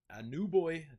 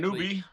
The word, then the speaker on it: Anunoby: As Tom mentioned, you have John Collins, OG Anunoby, definitely pronounced that incorrectly. Anunoby. Yeah, Anunoby.